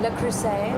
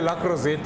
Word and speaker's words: Le Creuset: Le Creuset. Le Creuset. Some people say Very La Crozette, where I come from, and No, the price it's is a the same.